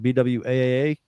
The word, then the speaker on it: Bwaaa: Yeah, if you want more, you can find us at BWAAA.